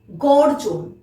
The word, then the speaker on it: গর্জন: কারণ বর্গীয় জয়ের মাথায় রেফ রয়েছে, ঠিক তার আগে আমরা র উচ্চারণ করলাম, তাই কি হলো? নির্জন। গ, বর্গীয় জয় রেফ, দন্ত ন, গর্জন, গর্জন।